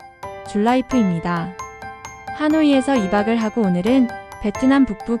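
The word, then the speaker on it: Hà Nội: 하노이는 물을 뜻하는 한자하와 안을 뜻하는 내의 합성어로 베트남어로는 한노이라 발음이 됩니다.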